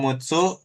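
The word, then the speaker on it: 六つ: Jadi bacanya bisa mutsu. Kalau mutsu berarti ininya tambahin gitu ya. Apa ini? Misalkan a bikin enam terus kasih su. Ini dibacanya mutsu jadinya. H gitu. Heeh. mutsu bacanya. Tapi kalau cuman enam-nya doang berarti cuman bacanya rokoku kayak gitu.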